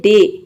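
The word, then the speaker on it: day: डे में आप देख रहे हैं कि ए वाई एक साथ आ रहा है तो यहाँ पे डी का ड हो जाएगा और ए वाई का हो जाएगा ए, तो ये पूरा हो जाएगा डे। डे मीन्स होता है दिन।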